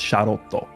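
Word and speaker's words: Charlotte: Because Shallet's pronunciation for his name, the unfused Shallet, his name in Japanese is Sharoto. It's like a more pronounced O sound. Okay. And then Giblet is Giburetto, like more of an E sound.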